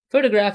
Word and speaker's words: photograph: an interesting thing here the stress a photograph is on the first syllable photographer is on the